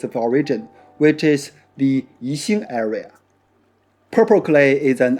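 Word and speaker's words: 宜兴: To be clear, the city that produces this clay is not pronounced Yixing, but Yixing. You should pronounce these two characters separately, and X or X does not exist in the Chinese language.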